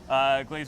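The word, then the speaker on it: Glaser's: cookie, which is what Glazier's is probably best known for. I think it's actually pronounced glaziers.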